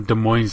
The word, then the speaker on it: Des Moines: until it's about the Des Moines Iowa the S is silent Des Moines Moines Iowa